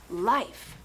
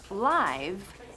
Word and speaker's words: life: Life. Fíjate, it's not live, and it's not live. It's life. Life.